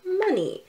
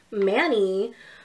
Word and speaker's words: Mani: I prefer to be called Money. It's spelled M-A-N-I. I know you're tempted to say Manny, but please say Money instead.